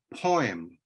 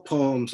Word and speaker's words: poem: you will hear poem some pronounce it poem like it has an oi inside it doing an oyster has an oi inside it the way all poems ought to have a